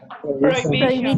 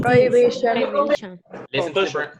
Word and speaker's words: prohibition: Prohibition. Prohibition. Listen to the pronunciation of the word prohibición. It's prohibition. Prohibition. La H suena como una J.